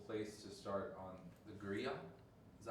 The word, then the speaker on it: griot: I think that's a beautiful place to start on the griot.